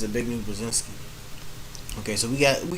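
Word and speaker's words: Zbigniew Brzezinski: he a big new brazinski yeah it's a big new brazinski okay so we got we got a couple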